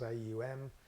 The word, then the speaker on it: Aum: class by chanting on once three syllables aum how vibrates in the belly who vibrates in the chest um vibrates in the head okay just feel it